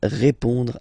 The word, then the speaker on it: répond: So, final D is not pronounced.